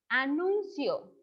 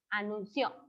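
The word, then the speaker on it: anunció: singular el verbo es anuncio y está en pretérito es decir que si se completó a perdón lo pronuncia mal tiene acento es anuncio ok anuncio porque se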